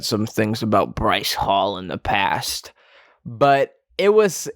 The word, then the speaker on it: Bryce Hall: said some things about bryce hall in the past but it was it was somewhat satisfying to see someone whose name rhymes with rice ball lose so brutally in